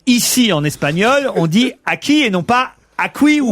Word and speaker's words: aquí: que, comme en français, un U placé derrière un G ou un Q et avant un I ou un E, que, qui, que, gueux, ne se prononce pas.